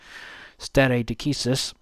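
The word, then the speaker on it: stare decisis: uh binding precedence of to use the Latin term stereis and yes law students I am pronouncing it right. Stere Deisus uh over uh the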